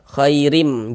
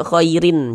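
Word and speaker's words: خَيْرٍ: Nah, khairim jangan dibaca khairin. Jangan dibaca khairim. Masuk melebur ke huruf mim.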